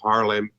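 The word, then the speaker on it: Haarlem: what uh and uh how do you say your town name ha ha harlem harlem yeah it's actually just harlem it's it's one a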